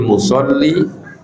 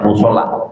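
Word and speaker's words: mushalli: ya'lamul marru baina yadayil musolli." Ya, jadi bacanya musolli bukan musola. Ya. Kalau musola itu tempat orang sholat, nanti kan. Kalau musolli berarti orang yang sholat.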